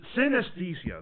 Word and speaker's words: synesthesia: Synesthesia.